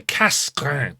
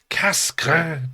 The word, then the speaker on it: Cassegrain: So here is a Cassegrain telescope. That's my best attempt at French pronunciation.